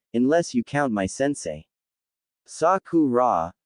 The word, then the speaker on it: Sakura: Saku rah," the boy said, pronouncing each syllable.